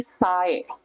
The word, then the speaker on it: sai: So if you see a vowel followed by another vowel, you would pronounce it as you slide the sounds. For example, laun. Yeah, laun. Laun means slow. Or maybe sai.